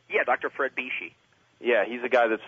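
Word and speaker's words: Bisci: Is that how you pronounce his name? Yeah, Dr. Fred Bishi.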